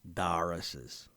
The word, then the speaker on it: Doris's: York City there was Doris's Diner or more accurately pronounced locally as dar's on the first floor